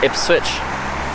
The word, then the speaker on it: Ipswich: Pronounced Ipswich.